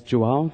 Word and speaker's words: João: João is a very common name in Portugal. It's unfortunately not so easy to pronounce for non-native speakers. If you get it as João, that's pretty okay.